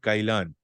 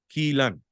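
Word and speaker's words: Kylan: to us and say it is not Kyan it is pronounced as Kean just because of pronunciation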